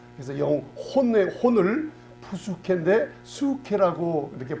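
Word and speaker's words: ψυχή: 사이콜로지 할 때 PSY인데 P자는 발음이 안 나요. 그래서 혼을 푸수케인데 수케라고 이렇게 발음을 합니다.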